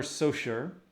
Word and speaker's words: Saussure: If I show you one that is low competition, this is Plumber Saussure. I know it looks like Saucier or something. I guarantee this is pronounced Saussure.